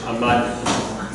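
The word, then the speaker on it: עמד: Make sure you hit those D's so you don't confuse it with their H. Ahmad. Okay? Give it to me. Ayin. Nothing. Silent. Ayin is silent. A.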